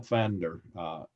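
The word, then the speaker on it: Pfander: Carl Van der the way they say it's a German name that's why it has a P before they have but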